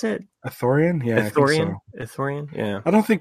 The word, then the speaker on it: Ithorian: how you pronounce it athough rien yes corinne Ithorian yeah I don't think pronunciation really matters and stars that I never